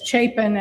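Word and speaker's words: Chapin: It's it's Chapen. And remember Harry Chapen, the musician, and that'll help for those of you who are old enough to remember Harry Chapen.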